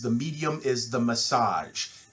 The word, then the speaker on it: The Medium Is the Massage: and that's marshall mcluhan's the medium is the massage and yes it is spelled that way and pronounced that way it's not a typo we will cover that